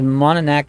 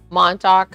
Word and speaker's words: Montauk: we'll check it out yeah my turn says mononek is so beautiful i'd probably say it wrong on top was it montauk montauk is beautiful check out jay charles he